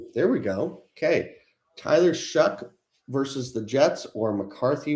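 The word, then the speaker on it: Shough: Also, as a somebody that has studied na name pronunciations and foreign languages, Shuck does not make any sense to me and it hurts my brain. Okay. So looking over the past few weeks, Tyler Shuck is averaging about 20 20 to 21.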